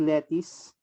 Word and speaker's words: lettuce: is the price of Alam ko ang pronunciation nito is lettice kce pero l l